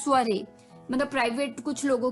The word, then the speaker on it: soiree: है ये एक अटपटा सा वर्ड है, स्पेलिंग कुछ और है, प्रोनाउंसिएशन कुछ और है। स्वरे, स्वरे, जी हाँ दोस्तों, स्वरे, SOIREE, स्वरे, SOIREE, स्वरे।